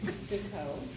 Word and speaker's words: Deco: It's Deco. Pronounced like Dakota without the T.